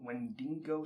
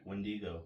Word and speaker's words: Wendigo: it it's got like is it like a wendigo wendingo story I said that wrong yes you did but how do you say that word when do you go there we go that word what is